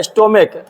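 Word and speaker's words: stomach: है स्टोम ठीक है हम इसको स्टोम नहीं बोलते हैं इसको पढ़ते हैं स्टोम पढ़ते हैं ठीक ना स्टोम तो यहां पे सीच का उच्चारण क्या आ रहा है क आ रहा है ठीक है तो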